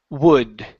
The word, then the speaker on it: would: nice okay right here this word is pronounced wood instead of wood open up your mouth W wood w okay now here we don't want to say w okay the L the U and the L will not make a sound okay so you will not pronounce an U after the O okay it's w w wood wood yeah there you go